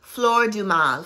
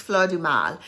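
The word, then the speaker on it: Fleur du Mal: this is called um floor Dumas Flor Dumas okay um anyway that was my accent I actually had the guy pronounce everything for me I said because I'm gonna do a review and I don't want to pronounce these wrong so this is Fleur de Mal um I love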